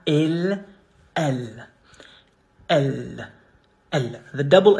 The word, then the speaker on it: il: You say il. Il. Il. There is no final E, and even if there was, it would be silent. So, il.